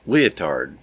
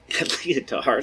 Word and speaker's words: Lyotard: So, uh, then came the three Fuko, Dererida, and Leotard. Leotard, I guess. Not spel not spelled like the ladies garment, but spelled L Y O T A R D.